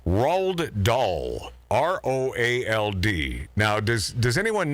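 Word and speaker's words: Roald Dahl: I've always had a problem with his name rolled doll r-o-a-l-d now does does anyone know who that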